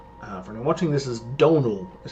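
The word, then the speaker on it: Dónal: Uh, for watching this is Donal is how you pronounce that name.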